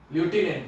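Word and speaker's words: lieutenant: एल आई लेफ्टिनेंट कहते हैं, लेफ्टिनेंट की स्पेलिंग भी आती है वोकैबुलरी में, इंग्लिश वाले एसएससी वाले हो तो याद रखना, टी ई एन ए एन टी, ल्यूटिनेंट बोलते हैं, एन ए एन टी, ठीक है।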